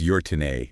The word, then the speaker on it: Götene: um, the municipality of Götene, Götene. Götene, Yeah. and I'm going to butcher that pronunciation. Sorry. But Close enough. I think it's Götene is how it's said. Götene.